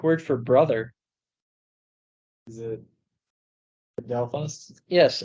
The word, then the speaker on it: adelphos: okay my brother in Christ can you uh pronounce the Greek word for brother is it adelphos yes adelphos adelphos yes holy okay no it's not not a